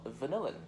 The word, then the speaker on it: vanillin: You have pronounced it as vanilla. The pungent vanilla smell. The chemical name for the compound, as you can see it on the paper, is called vanillin. Vanilla, vanillin.